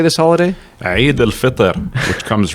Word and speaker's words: Eid al-Fitr: Eid al-Fitr, which comes right after Ramadan. Okay, Eid al-Fitr.